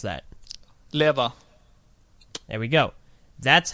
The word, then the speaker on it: Lewa: They won't say it, well, there's an argument as to whether or not it'll also be Loo-wuh, but Yes. primarily it's Lewa.